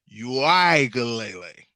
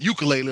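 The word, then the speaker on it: Uiagalelei: name his last name it is DJ yuele yeah not ukulele like we've been pushing yuele it's a whole lot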